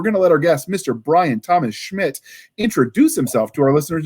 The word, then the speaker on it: Bryan Thomas Schmidt: further Ado we're gonna let our guest Mr Brian Thomas Schmidt introduce himself to our listeners and viewers did I pronounce that right Brian Thomas Schmidt yes that is correct outstanding correct yes introduce